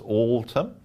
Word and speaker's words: Altum: Be aware that the pronunciation is important. Some people are pronouncing the name incorrectly, but it is Altum.